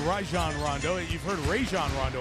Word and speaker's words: Rajon: you may have heard me and i say rajon rondo you've heard rajon rondo a lot but the correct pronunciation we asked from last night is rajon i like roi gonna go the other way